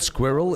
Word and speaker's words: squirrel: is the fact that the word squirrel is condensed to one syllable it's a disgrace squirrel it's squirrel excuse